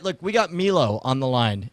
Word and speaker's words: Milo: All right, look, we got Milo on the line. M-I-L-O, I say Milo, you say what? Milo? Yeah, you're saying it wrong. It's Milo, starting now.